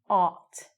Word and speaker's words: ought: But it's ought. Ought. I would spell it O-U-T.